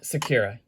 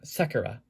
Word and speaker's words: Sakura: being the sakura sprinter actually no it's not sakira you guys have been pronouncing it wrong and you got me pronouncing it wrong it's not sakura or it's not sakura it's um sakura or sakura um like the cherry blossom trees in the present